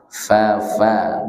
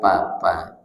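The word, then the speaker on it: ف: jangan dulu tapi nah ini contoh cara mengucapkan huruf Fa Ya Fafa Bukan Papa Mama Mama ini juga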